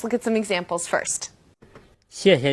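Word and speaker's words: 谢谢: Now, there's no definite rule for when a fourth tone turns neutral. And if you were to say 谢谢 or 客气 as two definite fourth tones, people would still have no problem understanding what you're saying.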